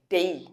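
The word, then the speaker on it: day: বলি ঠিক ডে ডে nine মানডে ডে না ডেই বুঝতে পারলে উচ্চারণটা একচুি ডেই যখন আমরা সেভেন ডেজেরও আমরা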